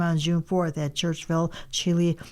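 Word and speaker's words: Chili: on June 4th at Churchville Chile or Chilai actually high school. Yep. I was really surprised when I heard somebody say Chilai. Well, they've always pronounced it there.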